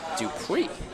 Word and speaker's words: Dupuy: You're saying Hunter Dupree, even though there's no U there on that. There's no R.